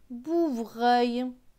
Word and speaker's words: bouvreuil: Plus loin, B avec OU. OU, c'est ou, donc B et ou, bout. V et R. VR, c'est vre, vre. Avec E-U-I-L. E-U-I-L se prononce œil. Donc vre et œil, vreuil. Donc ce mot va se lire bout, vreuil, bouvreuil.